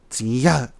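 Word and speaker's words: Chiyou: So, long ago, before the Xia dynasty in China, there were 3 rulers named Huangdi, Yangdi, and Chiyo. In our language, we pronounce Chiyo, Ziya.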